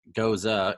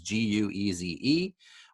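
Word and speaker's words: Gueuze: It's like Goza, almost it looks like, but it's Gueze.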